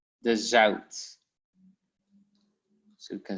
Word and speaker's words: zout: In the pronunciation, there's no difference, but only with the writing. So you have like rauw in the writing and zout, but you pronounce it the same way. Au and au.